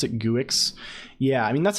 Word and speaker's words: Guix: it's I think it's Geeks right it's like to rhyme with Geese how is how is